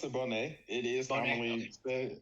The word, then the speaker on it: Boney: you for joining um today we have bony did I say that right I pronounce it Bonet it is said bony so I don't take